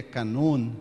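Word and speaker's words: κανών: da palavra Canon eh o termo grego Canon na verdade é na pronúncia grega e na acentuação grega é canun né vem de uma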